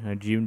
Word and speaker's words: Jun: I've also grown to like characters such as June. I always say Jun, because that's more better for me. June just sounds weird. It's like you're just saying, the month of June.